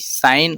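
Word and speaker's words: sign: Next है इसमें अपना जी, साइन और नोम। इसमें भी जी अपना साइलेंट है, इसको भी साइलेंट लेटर में की कैटेगरी में अपन लोग इसको रखते हैं।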